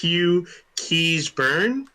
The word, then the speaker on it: Hugh Keays-Byrne: Next up, we have, I believe this is pronounced Hugh Keays-Byrne, even though it's spelled strangely for an American.